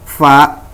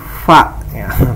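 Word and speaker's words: ف: Ingat ya, huruf fa itu bukan pa ya. Bibir atas dan bibir bawah ini tidak kena. Fa ya. Terus ada niup angin ya.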